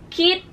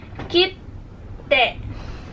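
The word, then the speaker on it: きって: So, indication siya na magpo-post kayo doon bago nyo bigkasin yung huling phonetics.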